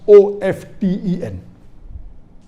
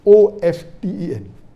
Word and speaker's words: often: Some will say often, some will say often. Previously it was often, then it became often. Now new people are saying no, often is correct. T is not silent, it should be pronounced.